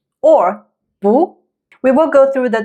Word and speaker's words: 不: When the character is followed by another character that carries the fourth tone, then it's pronounced 不.